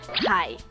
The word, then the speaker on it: 海: Hai. Hai. laut, 海 laut, 海 Laut. Hai. cara bacanya ya.